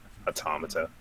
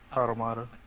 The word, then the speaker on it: automata: it's hard to just take off the end automata is how to present it automata bottom out of here as well girl yeah